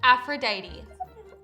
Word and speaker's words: Aphrodite: It's pronounced Aphrodite.